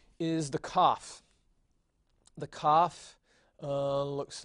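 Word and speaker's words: kaf: a reverse see and cough comes in two varieties it can be without the dot in which case you pronounce it just like the het so it's a huh but if it has the dot then you'll pronounce it like an English K Special K and so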